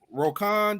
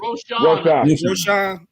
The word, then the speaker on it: Roschon: Hey, I guess is it pronounced Roquan Johnson? Is that how it's pronounced? Or is it Roschon? Okay. Roschon, yeah.